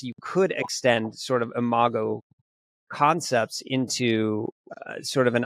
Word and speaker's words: imago: Do you, and it's pronounced imago, is that right? Yeah, imago.